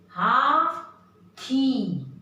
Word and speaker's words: हाथी: हाथी, हाथी नहीं, थ नहीं, थ।